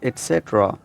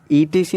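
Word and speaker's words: etc.: I upload videos on topics like grammar, pronunciation, common mistakes, एटसेट्रा, एटसेट्रा। ईटीसी नहीं बोलना, right.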